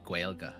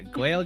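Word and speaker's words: Gaeilge: Gaelic but it's called gua and it's pronounced yeah gua gua at least that's the Irish way of saying yeah gaig is fine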